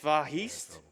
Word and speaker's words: Vahist: Also, I have Vahist 105 with $20 that says, note for commentator, it's pronounced Vahist without the H. Oh. Like the word histogram.